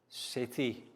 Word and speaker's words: city: can we see guys city now city c yes city soft c sounds like s so bang pon you